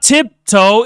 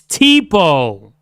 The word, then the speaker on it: Tipo: His name is not Tiptoe, it's Tipo.